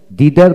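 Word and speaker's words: thither: দিকে, সাইডওয়েজ পাশের দিকে, থিডার হিডার দিদার বা হিডার দুইটা উচ্চারণ ঠিক আছে, দিদার সেই দিকে হ্যাঁ বন্ধুগণ।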